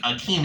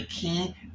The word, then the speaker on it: Akin: and Sarah, and Akin, I thought his name was Akin, it's actually Akin, A-K-I-N.